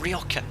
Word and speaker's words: Rioja: So I always call it Rioja wine, but it's spelled, looks like Rioja, but it's pronounced Rioja.